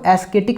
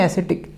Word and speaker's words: ascetic: अच्छा देखिए इसमें ना ए एस के बाद सी लगा हुआ है, लेकिन सी हमारा साइलेंट है, इसको एस्केटिक नहीं बोलेंगे, इसको बोलेंगे एसेटिक।